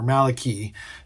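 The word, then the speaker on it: μαλακοί: words are important now now Maloy what or Malaki in the newer pronunciation or the not the arasmus pronunciation um is what gets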